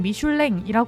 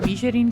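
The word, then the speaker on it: Michelin: 매기는 가이드는 레드 가이드입니다 우리가 보통 미슐랭이 말하는데 이건 기드 미슐랭이란 는 프랑스어를 그대로 발음한 거고 한국에서는 한국 지사가 미쉐린 코리아로 사명을 정하면서 미쉐린 가이드가 공식 명칭이라고 합니다이 미쉐린 가이드는 1900년 앞서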